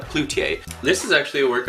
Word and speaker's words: Cloutier: I was reading as Coultier, not Cloutier.